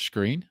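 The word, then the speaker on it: Skrine: his last name again they they've been pronouncing for the past couple of weeks as buster's screen so screen he he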